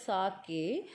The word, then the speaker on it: sake: So sake, so you'll pronounce this word as sake.